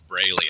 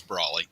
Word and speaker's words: Brawley: When bill collectors call and they ask for Mr. Braley, I say that nobody goes by that name here. So it's Brawley.